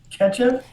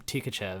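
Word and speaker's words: Tkachev: saying that right ketchup it's ketchup so i watched uh about 97 russian feeds and they pronounced his name ketchup even though he changed his name to an e and they call him ketchup over here and then your boy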